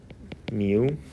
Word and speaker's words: mu: is new so new this is how it's pronounced and this is mu how are these two related does anyone know